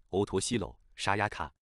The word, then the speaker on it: 乙白さやか: 以白沙也加的日文名字念作欧托西楼沙亚卡，生日是 2001 年 2 月 3